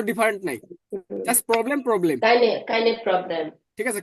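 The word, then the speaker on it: kein: কাইনে problem. ঠিক আছে, কাইনে না, কাইন প্রবলেম, কাইন প্রবলেম।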